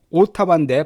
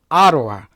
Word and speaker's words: Ottawa: 캐나다 수도가 바로 오타와인데 발음은 오타와 하지 마시고 아로아 이렇게 발음하라고 말씀드렸었고요.